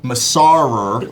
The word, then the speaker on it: Masarer: That's spelled Masarer. Masarer.